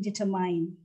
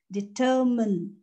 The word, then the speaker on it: determine: it's nothing about mine the correct pronunciation is again three syllables you can see here